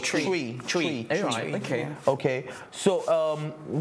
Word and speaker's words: Twi: Because T-W-I. I have Ghanaian friends who call it Chui. It's spelled as T-W-I. Chui or Twi? It's spelled Twi, but it's pronounced Chui.